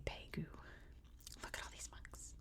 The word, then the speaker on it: Bago: not pronouncing anything right I think it's more like B P something like that but um I'm just I'm just pronouncing it the best I can here in America we would say Bago I guess in the UK you'd say pagu look at all these